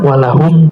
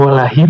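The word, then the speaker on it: وَلَهُمْ: Oh gitu, kenapa walahum enggak walahim gitu? Oh karena kalau sebelumnya fathah dibacanya hum walahum. Jadi enggak ada ee yang mengharuskan dia dibaca him. Walahum.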